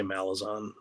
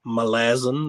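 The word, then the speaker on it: Malazan: good yeah novels of I will always say malazon uh but it apparently is malazin or malaze I can't say it so I always say Amazon that's how I pronounce it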